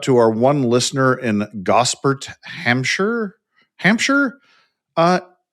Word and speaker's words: Gosport: It's not Gosport, though. Uh it is close. It is Gosport. Gosport. Gosport. Gosport. Gosport. Gosport. Gos Yeah, Gosport.